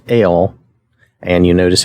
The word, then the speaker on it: El: it it is pronounced ale and you notice how they spell that like ale a-a-l-e so it's pronounced like ale even like the letter L but it's spelled e-l for for our purposes